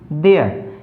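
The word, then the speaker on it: there: टी एच ई आर ई, देयर। ये देखो देयर नहीं बोला जाता इसको यहाँ पर, क्यों, क्योंकि जो आर जो होता है वो साइलेंट रहता है। आर का जो हमेशा जो साउंड यहाँ पर लास्ट जो आर होता है उसकी जो साउंड जो होती है वो ए की तरह होती है, तो इसको बोलेंगे देयर।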